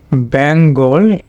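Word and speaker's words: Bengal: এটা এটা শুধু তোমার এটা এল ই হবে, হলো বেঙ্গল। তো বেঙ্গল, এটা ফনেটিক ট্রান্সক্রিপশন হবে বেঙ্গল। এটা কিন্তু লং হবে না, এখানে তখন শর্ট হবে, এখানে তোমার ছোট্ট করে শোয়া সাউন্ড দেওয়া আছে বেঙ্গল। ক্যামব্রিজ ডিকশনারিতে তোমার এরকমই আছে বেঙ্গল।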